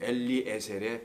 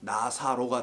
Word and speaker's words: 엘리에셀: 그게 엘리에셀의 발음인데 헬라어로 음역을 하니까 나사로가 돼버린 건데 나사로가 아니고 엘리에셀이에요.